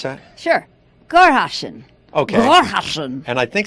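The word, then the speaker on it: Sankt Goarshausen: You want to pronounce that? Sure. Gorhausen.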